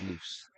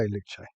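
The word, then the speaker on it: Luce: I thought it was loose. Okay. Luch. It depends who you ask how to say it, but apparently according to Ferrari, you say Luche.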